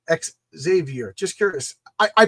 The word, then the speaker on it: Xavier: child named Xavier, but she pronounces Javier. Javier. So I just say Xavier because I don't even think about it. I mean, I should You're right. I should say exavier, but I I just